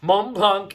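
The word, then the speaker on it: Montblanc: oh boy this is going to be interesting mont blanc individual we don't pronounce the c the the next one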